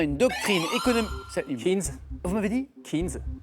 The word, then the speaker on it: Keynes: Keynes? Vous m'avez dit? Keynes? Ah, oui, alors la prononciation c'est Keynes. Mais c'est la bonne réponse.